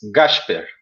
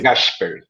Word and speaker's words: Gašper: I was writing this to John in the comments because this is the pronunciation of the S in Rio de Janeiro city. We have this accent strong in the S, like sh. So it's really? Gašper.